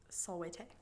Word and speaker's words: Salvete: Salvete.